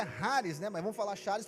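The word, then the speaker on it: χάρις: Então, a palavra graça no original grego, que é o Novo Testamento, ela é chares, né? Na verdade é Haris, né?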